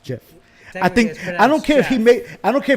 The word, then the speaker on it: GIF: gift cause it Jeff he says it's pronounced jiff I think I don't